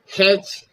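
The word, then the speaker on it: hedge: हेज, हेज means झाड़ी, यहाँ पर भी डी साइलेंट है, हेज, हेज मीन्स झाड़ी।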